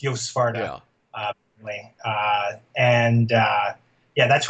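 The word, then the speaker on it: Joost Swarte: yeah, I saw an interview with Yo Svarta, who's it's spelled Juiced Swart, but it's Yo Svarta.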